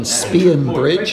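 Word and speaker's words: Spean Bridge: We're at the old station hotel in Spionbridge, as now we find out it's pronounced.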